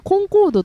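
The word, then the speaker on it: Concorde: 、ええ、正しくはコンコードと読むみたいなこと書いてあったり、はい、コンコールドはフランス読みなんですね。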